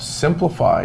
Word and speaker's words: Siemplify: the general manager of simplify but it's spelled s i e m dot com and it's dennis shaya